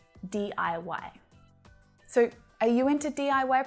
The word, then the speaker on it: DIY: you've picked up that the way that we say this word is by spelling out the letters d i y d-i-y so are you into